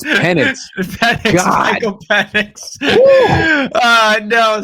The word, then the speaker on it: Penix: Okay, the Falcons, I don't know, because Penix, I don't want to judge him. Don't ever say his name like that ever again. What? Penix? It's Penix.